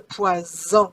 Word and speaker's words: poison: Le poison. You see the first S is between two vowels. Z sound. Le poison. But if I double my S, it becomes le poisson.